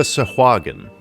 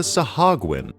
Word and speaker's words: sahuagin: Meet the Sahagan. Is that right? Or the Sahaguin. or the Sahooigan. Even though that first way is the most correct way to say it because it's the original pronunciation, I'm going to team up with Mr. Mercer because that's what I've heard the most.